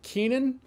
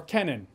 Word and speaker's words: Keenan: This is directed by Gil Keenan, or Kenan. It's spelt like Keenan and Cal, so I assume Keenan.